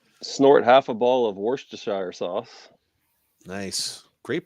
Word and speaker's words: Worcestershire: You have to snort half a ball of Worcestershire sauce. Nice, great pronunciation. Thanks. That one's always been a tough one. It is. Worcester sauce.